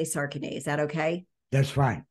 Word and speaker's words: Sarkany: Andy saren how do I said your last name wrong because now I know how you say it I say sarin is that okay that's fine Andy SAR just